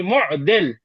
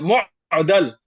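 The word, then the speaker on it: مُعضِل: because in his view, the correct way to pronounce this word should be mu'dil, with the kasra upon the dad, mu'dil, and not mu'dal with the fatha upon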